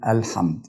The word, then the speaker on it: الحمد: أو التشكيلة بتاعة الفتحة، فبنطقها مفتوحة بقول الحمد. الحمد. طيب الميم اللي هي بعد الحاء برضو ساكنة، فبرضو بنطقها زي السين اللي احنا نطقناها في باسم، فبقولها الحمد.